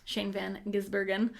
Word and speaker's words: Shane Van Gisbergen: Shane Van Gisbergen was first start.